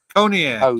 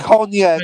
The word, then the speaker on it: Cognac: Conac. You don't know. You don't know what Conac is. Cognac, you illiterate Cognac. Conac. Same. Coney Island. It's a pronunciation difference.